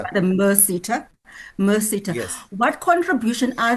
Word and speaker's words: MERSETA: automotive falls under the, I may not be pronouncing it correctly, Mercita. but the MERSETA.